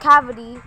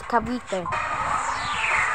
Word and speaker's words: Cavite: It's not cavity, it's Cavite.